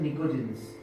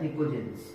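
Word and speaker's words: pnictogens: इसको बोलते हैं निकोजेंस, इसमें पी साइलेंट होता है, निकोजेंस, ठीक है। 15th ग्रुप होता है हमारा निकोजेंस।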